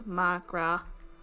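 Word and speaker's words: mo ghrá: Come on, Migra. There's Irish for my love. Oh, one dialect would pronounce it as Magra.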